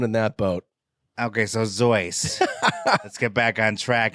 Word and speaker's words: Seuss: time it's not Dr Seuss no his parents are from Bavarian ancestry his mother uh her last name was spelled Seuss but it's pronounced zoy Dr zoy Dr zoy that is